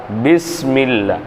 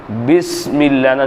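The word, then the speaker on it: بسم الله: பா அப்போ அலிஃப் பார்த்தீங்களா பிஸ்மில்லா பிஸ்மில்லாஹ் சொல்லுவோமே தவிர பிஸ்மில்லா பிஸ்மில்லாஹ் பிஸ்மில்லாஹ் அப்படின்னு தான் சொல்லணும் புரியுதுங்களா பிஸ்மில்லான்னு சொல்லும்போது பா சொல்லும்போது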